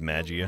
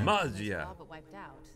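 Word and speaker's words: Maggia: Sources are saying the Magia is mounting a comeback. It's pronounced Magia. Magia.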